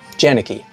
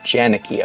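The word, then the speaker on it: Jaenicke: Janicki. Barbara, B-A-R-B-A-R-A. Barbara, J-A-E-N-I-C-K-E. Barbara Janicki, I believe, is how she pronounces her name.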